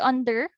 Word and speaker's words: under: So in the word under, you have there two syllables. So under. Un and der. So our stressed syllable in under is on the first syllable, as you can see.